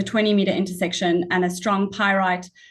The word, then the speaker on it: pyrrhotite: promising with a 20-meter intersection and a strong pyrohotite. How do you say that? I can't pronounce it either, so don't worry. I'm not. Okay, fine. Okay. Pyrrhotite, so yeah.